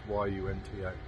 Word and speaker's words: Yunta: Here we are at Yunta. I think that's how it's pronounced, Y-U-N-T-A.